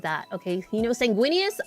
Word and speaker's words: Sanguinius: Okay, you know Sanguinius. Am I even saying Sanguinius right? I am like do not call him Sanguinas. Please don't call him Sanguinus. His name is not Sanguinus. Unless it is, and I'm wrong.